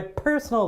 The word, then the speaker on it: personal: bada bing bada boom first syllable right personal p p right it really comes out of the mouth so definitely the stress is on the first syllable column A all right